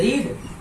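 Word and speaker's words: read: देखिए वर्ब की first form और सेकंड, रीड की फर्स्ट फॉर्म भी रीड होती है अगर स्पेलिंग देखें, सेकंड फॉर्म भी, लेकिन प्रोनाउंसिएशन फर्क हो जाता है। फर्स्ट फॉर्म होगी तो रीड पढ़ेंगे, सेकंड फॉर्म होगी तो रीड रेड।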